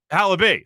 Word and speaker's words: Halaby: And that's Alec Halaby, I believe is how you say his last name. Alec Halaby. Halaby.